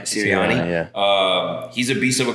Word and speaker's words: Sirianni: Nick Sirianni. Sirianni.